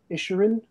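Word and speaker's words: Issurin: And that's where you find the book by Vladimir Isherin, is how you say his surname.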